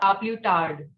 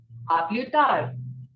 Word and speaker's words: à plus tard: Not à plus tard. D will not be pronounced. What it will be? À plus tard.